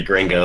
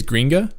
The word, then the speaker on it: Gringa: But by the way, I keep saying her name wrong. Apparently it's Greenja, Angry Greenja.